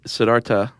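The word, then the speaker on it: Siddhartha: the Buddha uh whose name whose original name was Sedartha Guatama. Did you know that? Actually, Sedarta. Okay, so the H is silent.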